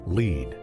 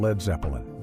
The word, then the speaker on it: Led Zeppelin: Later, manager Peter Grant recommended dropping the A so people wouldn't pronounce it as lead. The name became Led Zeppelin.